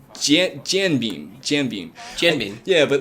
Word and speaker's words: jianbing: It's Pronounced? It's jianbing.